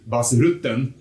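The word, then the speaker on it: Bas Rutten: oh B ruton and he's very specific that you pronounce his name exactly as the Swedish rotten ahuh otherwise he hits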